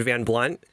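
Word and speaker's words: Van Blundht: really great comment about the H is silent in Van Blunt and then when they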